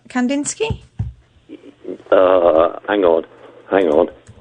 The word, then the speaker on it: Kandinsky: can't pronounce his name it's kazinski oh is that Kandinsky uh hang on hang